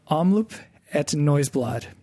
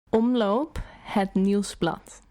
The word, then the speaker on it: Omloop Het Nieuwsblad: Omloop Het Nieuwsblad. Okay, it's not bad, but the proper way to pronounce it is Omloop Het Nieuwsblad.